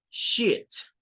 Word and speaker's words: sheets: papel Por lo general y la pronunciación miren es con una y y es con el sh que le corresponde a este y la t sheets Okay es el sonido